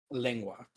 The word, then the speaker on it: lengua: Try saying that the It's tacos are pronounced fire. lengua.